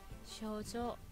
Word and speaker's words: 症状: 쇼조 라고 있죠. 증상. 쇼조. 장음으로 쇼조 라고 읽어주셔야 되고요.